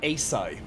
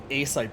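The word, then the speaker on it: açaí: but um well you might have a different pronunciation uh acai acai berries or maybe acai Boris I guess multiple different ways to pronounce it a-c-a-i yeah so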